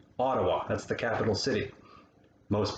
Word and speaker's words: Ottawa: talking about cities like ottawa that's the capital city most people would pronounce it or something like that but there's no t sound in that we use d sounds ottawa the biggest city is